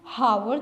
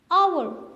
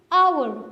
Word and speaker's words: hour: आप इसको हावर तो नहीं कहते, आप क्या कहते हैं? hour. तो ह कहाँ चला गया? ये यहाँ पे साइलेंट है. हावर आप नहीं कहते, आप कहते हैं आवर, क्योंकि यहाँ पे हेज साइलेंट है.